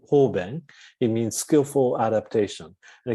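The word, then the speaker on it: 方便: And in Buddhist texts, we have a term in Sanskrit, upaya, or in Japanese way of pronunciation, we call it hoben.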